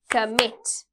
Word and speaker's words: commit: Commit, commit, mit.